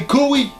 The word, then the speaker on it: Kawhi: Et au final il me dit mais non, c'est Kawhi. Et ce con il avait mal prononcé, voilà.